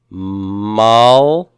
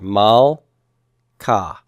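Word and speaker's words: מלכה: How would I pronounce this first word on the left? Malka. Malka. Where would I divide my syllable here? After the L, because this is, as I see the Shiva, I look to the right, I see that's a short vowel, so the Shiva is silent, and so I'm going to divide right there.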